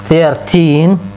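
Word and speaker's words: thirteen: نلاحظ هنا الـ TH تلفظ ث 13، ونلاحظ هنا المقطع تين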